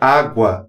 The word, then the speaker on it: água: Na palavra água, existem 4 letras e 4 fonemas, pois o GU na palavra água é pronunciado.